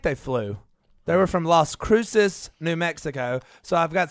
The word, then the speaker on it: Las Cruces: outs i think they flew they were from las cruces new mexico so i've got some new mexican